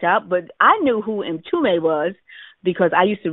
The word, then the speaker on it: Mtume: So I didn't know how to pronounce his name. So when Louise said, "This is James M. Toomey," I said, "Are you James M-T-U-M-E?"